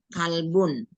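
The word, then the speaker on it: كَلْبٌ: Kalbun. nah, kalbun bukan kolbun Ibu ya. Kalbun. Ya. Kolbun sama kalbun.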